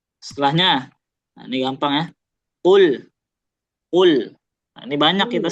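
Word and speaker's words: قل: Jangan sampai qul qul qul. Nah, dia agak bingungkan tuh. U apa? A qul. Qol. Nah, tapi qul ya. U-nya jelas.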